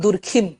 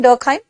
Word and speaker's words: Durkheim: details and durkheim okay please don't call him durkhim a lot of hindi medium teachers call him durkheem because in hindi medium books it's written durkheim i'll be very honest okay but pronounce him durkheim because that's the pronunciation okay so durkheim he